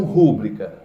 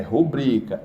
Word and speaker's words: rubrica: isso aqui para mim rub rubrica ou rúbrica rubrica é rubrica é paroxítona é oxítona e recorde